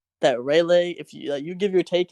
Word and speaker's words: Rayleigh: So you say, how do you spell sleigh? How do you spell sleigh? God, we not doing like when Santa riding his sleigh, it's SLEIGH, right? So Rayleigh, exactly.